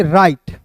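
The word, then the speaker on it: write: को क्या पढ़ेंगे इसमें दोस्तों दोस्तों डब्ल्यू को साइलेंट कीजिएगा। आर आई टी ई को पढ़ेंगे राइट।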